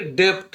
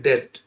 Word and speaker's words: debt: ठीक वैसे ही जैसे ये है DEBT, डेब्ट, पढ़ना तो चाहिए डेप्ट मगर पढ़ते हैं डेट, तो डेट का मतलब होता है कर्ज।